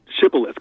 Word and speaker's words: shibboleth: the word Shibboleth and one group could not and the it turns out that the Ephraimites could not pronounce Shibboleth correctly or in the groove